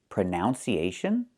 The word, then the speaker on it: pronunciation: The word is pronounced pronunciation. We see the letter U there between the ends, right? That's a short uh sound like cup and up. Prenun. Prenun. So the two first vowels are the same sound.